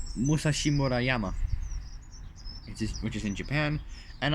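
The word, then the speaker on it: Musashimurayama: So I'm gonna try my best to pronounce that word, because it's like a long Japanese word. It's Musashi Murayama. It's Musashi Murayama.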